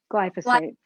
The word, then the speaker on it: glyphosate: um uh the concern was with the pesticide geos light am i saying it right glyphosate glyphosate yes there you go um and um i